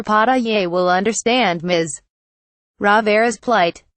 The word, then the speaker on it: pasteles: has ever made pasteles to pronounce it you skip over the last letter pata yay will understand MS Rivera's